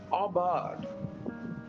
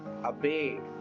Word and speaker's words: aubade: அபார்ட், AUBADE, அபேட் அப்படின்னு படிக்கிறதுக்கும் வாய்ப்பு இருக்கு. ஆனா அதனுடைய உச்சரிப்பு அபார்ட், அபார்ட் என்று படிக்க வேண்டும்.